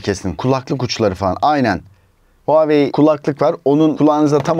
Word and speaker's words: Huawei: and crafted by Huawei Daha doğrusu Huawei diye okunuyor Huawei Ultimate Design diye